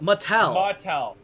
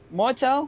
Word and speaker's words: Mattel: Mattel. Martel? Yeah, Mattel. There's no Okay. R. Martel. There's Yeah. no R.